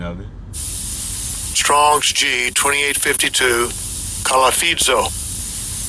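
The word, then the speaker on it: κολαφίζω: Buffett is G2852 and I'll give you a pronunciation of it. Strongs G2852 Kalafidzo Kalafidzo and it says uh under the biblical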